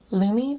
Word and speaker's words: Lume: So this is Lumi. Rhymes with gloomy. Lumi deodorant is a whole body deodorant for pits, privates, and beyond.